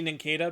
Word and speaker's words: Nincada: Well, I guess it would be Nincada because it's based off the cicada. And you don't say cicada, you say cicada.